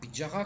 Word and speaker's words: Petyarre: Anaprice Pethiar, Pidjara comme on prononce là-bas, est né vers 1965.